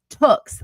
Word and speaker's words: Tooks: Anyways, okay, on the second hour was Lakendra Tooks, like books.